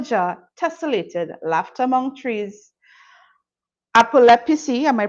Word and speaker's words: Apep: propagating punies kill jar tesselated laughter among trees apep am I pronouncing that correctly yeah apop a AP PC a descaling Tara's mother's skin